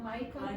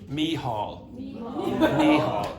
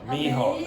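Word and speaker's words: Micheál: How do you pronounce the first word? Michael. No, Mícheál. Mícheál, yeah, exactly.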